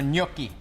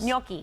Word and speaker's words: gnocchi: We're finishing up our gnocchi. Yes, we And that's are. how you pronounce it for us. Gnocchi.